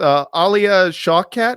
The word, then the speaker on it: Alia Shawkat: The opening of the movie starts with Alia Shawkat. Is that how you pronounce her name?